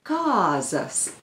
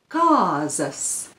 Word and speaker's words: kāzas: What you need to remember is you have to make sure that you pronounce it with a long vowel a, kāzas. Once more, kāzas, because kāzas with the short a means goats, so you don't want to say that.